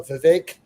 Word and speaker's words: Vivek: message and the uh Vivek uh I always I always want to mispronounce that but you know I remember his helpful uh advice that rhymes with cake uh his big argument